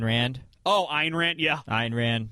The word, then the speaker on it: Ayn Rand: Ayn Rand. Right. Yeah, I always pronounce it Ann because I don't really care.